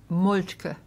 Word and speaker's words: Moltke: m o l t k e and it's pronounced molka okay regular Americans would pronounce it molka molki